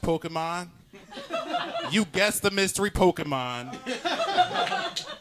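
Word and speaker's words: Pokémon: You know it's pronounced Pokemon.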